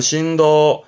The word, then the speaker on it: 振動: 폭을 말하는 부분이잖아요 진폭 발음은 심프 심프 진동이 발음은 신도 신도이 진동이 우리가 많이 보게 될 겁니다 뭐